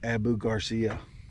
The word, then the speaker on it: Abu Garcia: I was going to use this other Abu Abu Garcia is how you say it well that's why